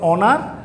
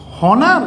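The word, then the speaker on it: honour: আর যেটা বলি আমরা অনার বা হচ্ছে আওয়ার উচ্চারণটা কি হইলো উচ্চারণটা কি হনার না অনার উচ্চারণ হচ্ছে অনার উচ্চারণটা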